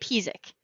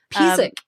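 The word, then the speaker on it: Písek: You say it Pizik. Pizik.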